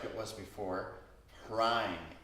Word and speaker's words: Hraim: And here the mantra is like it was before, Hraim, H-R-A-I-M. Try saying that. Hraim. Hraim. Rhymes with rhyme.